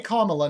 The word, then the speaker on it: Kamala: it right what's Harris's tax man no say kamla now you're not just gonna refuse so do